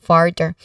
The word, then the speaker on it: further: The sound here, it's like fur. So sound. The stress is on the first syllable, further. Okay, further, there's a the version of th sound here is the voiced one.